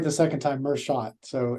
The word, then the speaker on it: Merschat: Did I Did I pronounce Mershot right? Did I pronounce that right? You got it right the second time. Mhot.